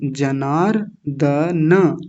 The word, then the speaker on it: जनार्दन: प्र पश्यद भिर जनार्दन जनार्दन ध्यान दीजिए लास्ट में नकार पूरा है हलंत नहीं है हलंत होता तो क्या